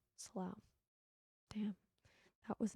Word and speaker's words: Slough: Rhymes with wow. Slough.